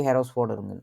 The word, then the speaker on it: Herausforderung: এটা সিঙ্গুলার এবং প্লুরাল দুইটাই কি দি Herausforderung, দি Herausforderungen। উচ্চারণ করেন তো।